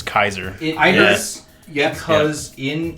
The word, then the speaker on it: Caesar: Vegas it's not pronounced Caesar it's Kaiser I because in if you are going with old school Latin the C is a hard which I knew the